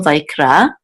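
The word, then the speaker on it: ויקרא: is ra, vayikra, vayikra, and this gives the accent mark, which is on the last syllable, vayikra, and it's a very common verb.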